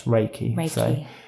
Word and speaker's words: Reiki: Ellis not reply right it's Ray Ray as in ray of light and key Ki so that's Reiki what is Reiki the